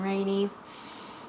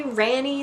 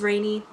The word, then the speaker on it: Ranney: um name crowd um I get rainy probably more than rainy and I don't blame you if you say rany that's fine cuz that's how it's spelled how are you supposed to know it is rainy um when I was substituting I used to draw a little raincloud over my name and that seemed to